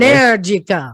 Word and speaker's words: Energica: You're not saying it right. It's MSA Energica. Energica. Yes, I said Energica. Energica. Okay. All right. Let me adopt Liza pronunciation.